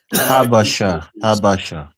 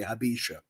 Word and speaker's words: Habesha: Habasha. Yeah, well, however you pronounce it, right? But that's I hear them in person say Habesha.